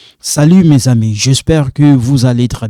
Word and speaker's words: mes amis: Mes amis, this one sound like za, like Zahir.